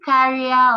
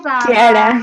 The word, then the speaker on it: Kiara: Because it's question time and hi, is it Carrier or how is it pronounced? Hi Kiara.